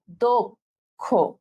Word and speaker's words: দক্ষ: সো দেখো, তাহলে আমাদের শুধুমাত্র ওকার দিব, আমরা ওকার দিব। তাহলে আমরা যেভাবে উচ্চারণ করব, দক্ষ, ঠিক আছে? দক্ষ, ওকে। মুখের উচ্চারণ অনুযায়ী এটা লিখতে হবে, এটাই হচ্ছে উচ্চারণের নিয়ম, ঠিক আছে?